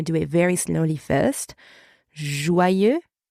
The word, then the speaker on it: joyeux: have learned to pronounce joyeux, and we have learned to pronounce anniversaire. Joyeux and anniversaire. Now, let's add our liaison, right? As I said, joyeux ends with the letter X, even if it's silent, right?